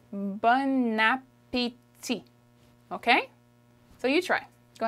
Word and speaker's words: bon appétit: There's a liaison in there, and that's why it's not bon appétit. We'll learn that in another video, but the way you pronounce it is bon appétit.